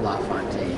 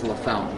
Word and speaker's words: LaFontaine: In the NHL, it's Pat LaFontaine. Yeah. But here it's LaFountain. Which one would you say it is technically? Well, LaFountain, but I would never